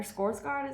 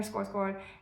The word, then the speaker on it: Skarsgård: I am getting excited but also nervous about the adaptation because I don't know if Alexander Skarsgård, or Skarsgård is how I would imagine it's pronounced in Swedish, but I don't know if he has the right vibe.